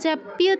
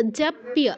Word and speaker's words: জপ্য: আচ্ছা, জপ্য জপ্য জপ্য তৎপরঃ বলো। জপ্য তৎপরঃ। জাপিয়া তাৎপরঃ। না, আকারটা কেন আনছো? যা তো নেই।